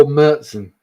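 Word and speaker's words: Märzen: the mood for a nice Marsen or meren as I'm supposed to pronounce it but yeah but the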